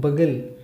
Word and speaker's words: bugle: Next one, B-U-G-L-E, bugle. It's not bugle, bugle. So here you will find U and you need to pronounce this U as it is and the word's pronunciation will be bugle.